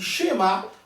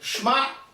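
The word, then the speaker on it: שמע: ma Israël c'est vrai alors comment on va lire ça on dit shema on peut pas lire shma c'est vrai qui font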